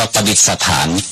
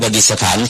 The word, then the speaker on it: ประดิษฐาน: อยู่ 4 แห่ง เช่น ประดิษฐ ฐาน เขา พา กัน ออก เสียง ว่า ประดิษ สถาน ออ ประดิษฐาน เป็น ประดิษฐาน ประดิษฐาน อ่า แล้ว ก็